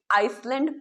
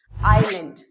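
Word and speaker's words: island: गलत प्रोनाउंस करते हुए आई एस एल ए एन डी जिसे आइसलैंड प्रोनाउंस किया जाता है बट इट्स नॉट आइसलैंड और इसलैंड इट्स आइलैंड आइसलैंड इसमें जो एस होता है वो साइलेंट होता है जैसे कि दिस इज अ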